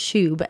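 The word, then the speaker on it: shoob: But yeah, it's just pronounced shub, S-H-O-O-B.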